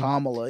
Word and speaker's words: Kamala: a part of that I want to correctly say her name you feel me comma yeah I mean I feel like comma is probably easy to say too but the thing